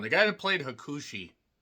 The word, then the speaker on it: Hakushi: The guy that played Hakushi just always sounds so dirty. Hakuchi is what it sounds like.